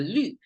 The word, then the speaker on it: 绿: it pronounced as a lu, because English doesn't have the U with the 2 dots on it, which is the Chinese sound marker for U sound. So this lu is a falling tone.